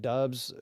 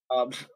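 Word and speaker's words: Doubs: You bet Dubs or you bet Watson and Wick scores. You bet Watson and Dubs scores. Dubes, whatever. Fuck. Max, how do you pronounce his name? Dobbs.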